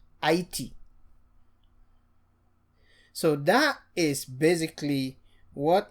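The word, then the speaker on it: Haïti: So instead of Haiti, this tréma helps us to pronounce this as I, E, Haiti.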